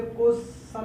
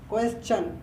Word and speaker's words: question: इसे क्वेश्चन नहीं पढ़ते, इसे सन इसका प्रोनाउंसिएशन रॉन्ग है गाइस। इसे पढ़ते चन इज करेक्ट। क्वेश्चन बोलो, रिपीट करो, क्वेश्चन।